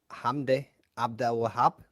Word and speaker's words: Hamdy Abdelwahab: you're going uh we keep the um mden ham ABD wab is that how you say his name that's